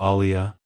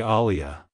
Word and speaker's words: Alia: pronounced as aliia aliia Alia to pronounce it correctly emphasis ize the second syllable Lee and maintain a soft uh sound at the beginning avoid stressing the first syllable too much like hello Alia goodbye Alia if you